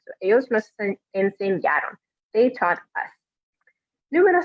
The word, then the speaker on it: enseñaron: And again, remembering that when you pronounce it, it's that A in the middle, that's where the stress goes. So it's not enseñaron, but enseñaron, making sure to stress the middle part of that verb.